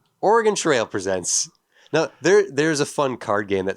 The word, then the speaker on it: Oregon: It's Oregon. It's not Oregon."